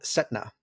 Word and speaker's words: Cetana: But it's, you may know it, so you know much more about Buddhism, but it's called Setna. It's pronounced Setna, but it's spelled Cetana.